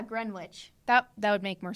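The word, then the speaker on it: Greenwich: can't pronounce the name I think it's pronounced GR wi isn't it oh yeah Gren witch that that would make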